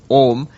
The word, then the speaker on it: Om: What happens is in Sanskrit grammar when you put an a and an oo next to it it joins and it becomes o.